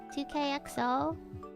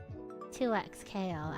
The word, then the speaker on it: 2XKO: How do you say that game again? 2KXO? 2XK... Fuck. 2XKO. I always get the two in the middle mixed up.